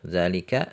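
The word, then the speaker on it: ذلك: Kemudian isim isyarah untuk bendanya jauh muzakkar, zalika, zanika, ulaika. Untuk jauh muannas, tilka, tanika, ulaika. Nah, ini huruf zalnya juga ya, harokatnya pendek, tertulis pendek tapi bacanya panjang.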